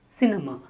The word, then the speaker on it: cinema: Cinema. C-N-M. Cinema. The stress on the first syllable.